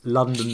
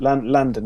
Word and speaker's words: Landon: It's Landon, isn't it? Landon, isn't it? Yeah. Landon. That's what I meant to say.